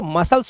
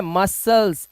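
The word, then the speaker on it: muscles: ऐसे ही हमारी जो मसल्स होती हैं इनके लिए जो वर्ड है मसल्स। एस और सी एक साथ है। एस के बाद आया सी है। सी साइलेंट होगा। इसे पढ़ेंगे मसल्स।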